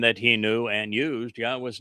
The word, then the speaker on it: Yahweh: The first statement reads, Yahweh. Okay, once again, Dode was 3,000 years ahead of the mother goddess Click, and that he knew and used Yahweh's name.